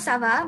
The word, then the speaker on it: ça va: So you would say comment ça va, and remember how it's like kava, it's like ça va because of the accent below. The accent changes the pronunciation.